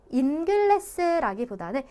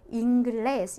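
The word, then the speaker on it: inglés: 그래서 이게 자연애라는 뜻인데 여기 N가 들어갔는데 얘 같은 경우에는 인글레스라기보다는 잉글레스 약간 이응 받침 소리로 가게 된다라는 얘기예요. 그래서 사실 니은이나 이응이나 큰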